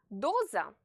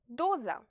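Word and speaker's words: доза: letter is similar to the English Z It's pronounced Z Doza a dose DOA so don't forget to pronounce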